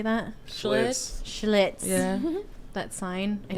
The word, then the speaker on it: Schlitz: Schlitz.